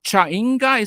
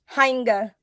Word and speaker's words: Jainga: Because I thought it would be pronounced like Chenga, like that game with